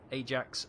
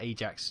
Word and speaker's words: Ajax: The Achilles took light damage and the Ajax took medium damage. The Royal Navy pronounced that Ajax, not Ajax. Ajax is a Dutch football club.